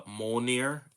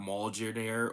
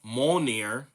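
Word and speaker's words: Mjölnir: The thing about Thor as as everyone should know, uh Mjolnir, which is how you pronounce it, not Mal-jeer-near or Mal-jer-near or Mal-jeer-near or whatever you guys say on the internet, Mjolnir uh is lifted by Thor's hammer, blessed to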